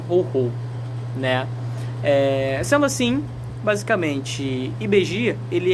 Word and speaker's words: Ibeji: Vamos lá, o vídeo de hoje é sobre IBG, né? Ou IBEG, como muita gente fala, né? Eu prefiro falar IBG, porque eu acho que a pronúncia fica mais bonita, né?